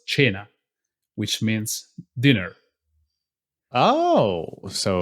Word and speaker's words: Cena: Cena's name like surname Cena It's actually an Italian word oh yeah to tell yeah and it's not pronounced Cena it's pronounced China which means dinner oh